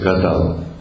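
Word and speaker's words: כָּתַב: En hébreu, c'est Katav. Katav, Lertov, Katav.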